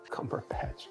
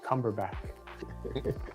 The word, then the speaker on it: Cumberbatch: Cumberbatch. Cumberback. Oh my god. Yeah, he put that in fast in the wrong syllable.